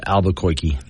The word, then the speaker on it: Albuquerque: By the way, it's pronounced Albuquerque.